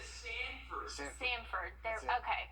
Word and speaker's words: Sanford: I had to make sure that I said all the syllables right there. But Put a D in there, Sanford.